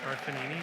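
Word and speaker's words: Carfagnini: It's pronounced Carfanini, just to ignore the G. Carfanini, Daniela Adina Clark.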